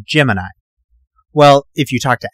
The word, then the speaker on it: Gemini: day NASA put out a press release that it was pronounced Gemini and while I recognized that decision in the words of Nick Fury I think it's a stupid decision so I'm gonna pronounce Gemini like most of the rest of the world sorry Al Gemini was